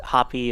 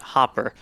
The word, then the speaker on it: Hopper: right next to Hopper I've been told hoppy is incorrect and then I should call it Hopper so there you go